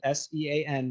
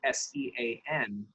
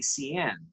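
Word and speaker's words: Seán: So the idea is that because it's spelled S-E-A-N, right? I mean, not anymore, but when I was younger, Sean wasn't as popular a name as it is right now. And you would get a lot of people that would say Cian, right? Mm-hmm. Just because if you pronounce it phonetically.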